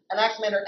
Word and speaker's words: Anaximander: just to help out my legions family is Anaximander nxn means all coming from lay leaders and